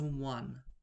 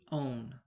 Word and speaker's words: -one: It's not pronounced one, it's pronounced -one.